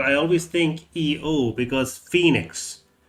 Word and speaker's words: Phoenix: It's because the actual spelling of Phoenix is apparently Phoe, but I always think EO because Phoenix. The O is silent.